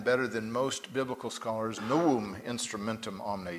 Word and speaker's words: Novum: it was called the novum instrumentum omne or for those of you who know Latin better than most biblical scholars Noam instrumentum omne you don't pronounce the V but all biblical scholars do because we don't know